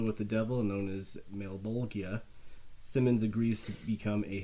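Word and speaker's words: Malebolgia: I don't know if this is like canon or whatever, but like at least in the movie anyway, they pronounce it Malbolgia. I don't know. Male bulge.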